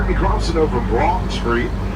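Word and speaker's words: Broughton: Next, we're going to be crossing over Broad Street. Broad Street is spelled B-R-O-U-G-H-T-O-N.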